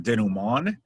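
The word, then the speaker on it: dénouement: on your list and it is not pronounced how it looks it's um denim on and it's a type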